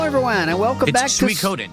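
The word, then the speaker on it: Suikoden: and welcome back to Su Coden that's how you pronounce it Su Coden I know for a fact that's how you pronounce it cuz I just heard it spoken it's Su Coden o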